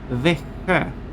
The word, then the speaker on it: Växjö: That place name is pronounced Växjö.